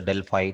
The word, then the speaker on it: Delphi: You can call Delphi, but the widely used pronunciation is the Delphi technique.